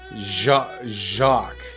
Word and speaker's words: Jacques: Jacques life okay so it sounds like the word shock but it's with a J Jacques shock Jacques why does